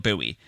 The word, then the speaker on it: Bouie: I asked you to tell me about someone who makes you think, and you said Jamel Bowie, who is on Twitter and Instagram at jbowie, and his username is spelled JBOUIE.